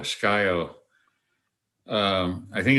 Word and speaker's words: Scio: spell it it's a it's a tribal name s-c-i-o sky-o um i think it's pronounced scio but i've heard it that's one